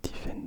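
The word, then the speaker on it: Typhaine: Et la particularité de cette Tiffen donc, c'est que ça s'écrit T-Y-P-H-A-I-N-E.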